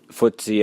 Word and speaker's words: FTSE: talked about the markets particularly footsy as it's called it's FTS it's just the that that's the way they that they pronounce ftse at the lowest point